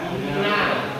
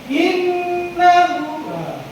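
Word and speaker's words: إِنَّهُ: Cara bacanya didengungkan. Cara baca didengung, cara baca dengung. Gimana caranya? Ditekan. Tekan dua, ketukan. Ya. Innahu. Ditekan, jangan hanya in.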